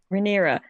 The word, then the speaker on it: Rhaenyra: Is it Rihanna or Rhaenyra? Rhaenyra, yeah.